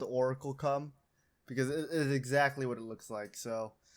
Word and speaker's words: Orichalcum: So it's called, for me, Oracle-kum. Yes. I believe it's like Orichalcum is how you're supposed to say it, but I agree with you where it should just be called Oracle-kum because it is exactly what it looks like.